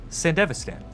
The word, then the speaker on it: Sandevistan: Sandevistan. That's how they say it in the show.